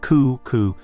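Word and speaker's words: 九: The number 9, pronounced ku, sounds like the word for suffering or agony, kurushimi.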